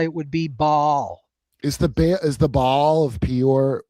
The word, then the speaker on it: Baal: If you do go back to Sumerian, Akkadian, languages, both A's would have been short and pronounced. So in the original, it would perhaps have been pronounced Baal. However, today we just truncate it and put them together and say Baal.